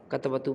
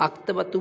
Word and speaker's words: क्तवतु: कतवतु प्रत्यय। कुछ लोग अक्तवतु भी बोलते हैं, तो अक्तवतु भी कह सकते हो और कतवतु भी कह सकते हो। ठीक है, ये दोनों उच्चारण सही हैं।